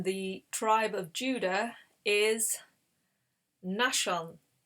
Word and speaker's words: Nahshon: So the first captain in the tribe of Judah is Nahshon. Nahshon, that's how I'm saying it, Captain Nahshon.